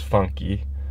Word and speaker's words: funk: So, this next genre of music, it's called funk. And the way you pronounce it in Portuguese is funky.